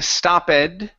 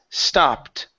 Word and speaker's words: stopped: here stop okay so instead of saying stoped okay okay the word is stopped stopped for ice cream